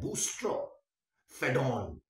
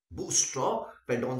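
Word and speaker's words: boustrophedon: में इसके लिए वर्ड यूज किया जाता है बूस्ट फेडो बूस्ट फेडो spelling नहीं बोलना बहुत लंबी सी स्पेलिंग है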